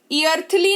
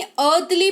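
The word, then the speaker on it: earthly: ईर्थली नहीं अर्थली पढ़ेंगे, जिसका मतलब होता है सांसारिक।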